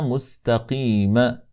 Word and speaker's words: مستقيم: نعم ثم قال وسينا مستقيما مستقيمه عفوا وسيله مستقيم يعني احرص على السين فلا تقول المستقيم نسمع البعض يقول هكذا احرص على السين فلا تفخمها